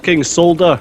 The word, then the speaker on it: solder: it's solder it's pronounced solder it's got an L in it there you go we